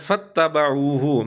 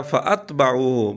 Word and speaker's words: فَاتَّبَعُوهُ: إِلَّا فَرِيقًا مِّنَ الْمُؤْمِنِينَ، لفظ ہے فَاتَّبَعُوهُ، مرزا نے پڑھا فَأَتْبَعُوهُ، بہرحال عین پر مرزے